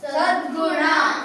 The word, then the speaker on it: ಸದ್ಗುಣ: ಕೂಡ ಒತ್ತಕ್ಷರ ಇದೆ ಇಲ್ಲೂ ಕೂಡ ಒತ್ತಕ್ಷರ ಇದೆ ಒತ್ತಿ ಉಚ್ಚಾರಣೆ ಮಾಡಿ ಬಗ್ಗವಳ್ಳಿ ಮುಂದಿನ ಪದ ಸ ಗು ದು ಗೆ ಗ ಒತ್ತು ದ್ಗು ನ ಸದ್ಗುಣ ಸ ದ್ಗು ನ ಸದ್ಗುಣ ಉ ಉ ದ್ಗ ದ